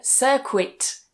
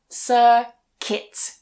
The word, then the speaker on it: circuit: Again, I hear a lot of students saying cirquit, but circuit. So the u again is silent.